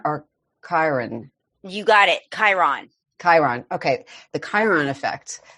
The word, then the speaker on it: Chiron: talking about I want to make sure I pronounce it properly. Chiron or Chiron? You got it. Chiron.